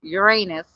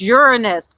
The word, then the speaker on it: Uranus: was telling he so he said Uranus um Steve Harvey did and the astrologer corrected him and said no that's not how you say it it's Uranus and he was like oh